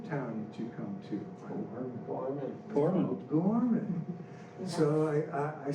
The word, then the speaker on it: Gorman: He says, no, Gorman, it's two syllables, Gor and Man.